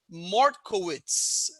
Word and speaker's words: Mortkowitz: a very special guest her name is martkowitz did i pronounce it right that's perfect excellent you